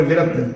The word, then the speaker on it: व्रत: हाँ, वो व्रत और विरत, क्योंकि प्रोनाउंसिएशंस है ना, तो कहीं कहीं व्रत पढ़ा जाता है, कहीं विरत पढ़ा जाता है।